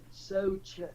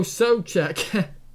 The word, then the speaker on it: Souček: I don't know how you pronounce his name. Souček, is it? Souček. Oh, Souček.